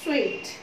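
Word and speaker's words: suite: सारे रूम्स होते हैं, तो उन्हें क्या बोलते हैं हम, स्वीट, एस यू आई टी ई।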